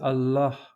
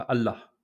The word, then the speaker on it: Allah: Il faut prononcer Allah, et pas Allah.